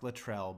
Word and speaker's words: Latrell: have the choke yes it's pronounced Latrell but I know and let's not forget you